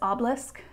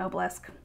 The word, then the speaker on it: obelisk: message and i guess the proper pronunciation is obelisk is that right obelisk i will i will probably continue saying oh bless my apologies um obelisk